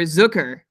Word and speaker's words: Zucker: up to 70 but first sucker or zuker as how I heard his name pronounced when I watch the